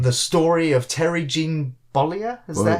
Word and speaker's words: Bollea: The story of Terry Jean Bollea? Is that how you say his name? That is Hulk Hogan's real name. Bollea.